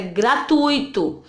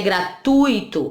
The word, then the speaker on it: gratuito: Percebam que tem 3 sílabas, ó.